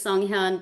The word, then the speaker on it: Sunghyun: My first name is Songhan. But since often times it's kind of hard for people to pronounce the whole name, the first name, I often go by song.